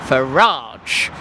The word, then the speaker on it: Farage: Oh, actually, it's Farage.